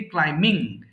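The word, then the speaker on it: climbing: করেছি ক্লাইম্বিং বলে ফেলেছি এখানে বি এর উচ্চারণটা হবে না হ্যাঁ সো এটা হবে সিম্পলি ক্লাইম্বিং তাহলে একটু বলে ফেলেন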